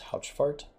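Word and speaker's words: Haurchefant: I believe his name is pronounced Houchfart.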